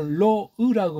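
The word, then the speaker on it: לֹא: 어쨌거나 이게 로라는 걔네들이 찍어놓은 모음을 인정한다고 해도 로으라고 발음해야 돼요. 오케이? 로으입니다. 소리 안 나는 이응자예요.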